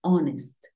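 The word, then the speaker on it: honest: yo te comentaba que si la H es muda se considera como si la palabra iniciara con vocal porque acuérdate que la H casi siempre suena como una J House home horse Pero hay algunos casos como cuatro palabras en las que la H es muda por ejemplo agua que es hora tenemos honor y tenemos onest esas tres son las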